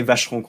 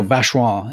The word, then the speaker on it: Vacheron: And he said to say it like a native, you can actually drop an extra syllable from Vacheron. You just go Vacheron instead of Vacheron.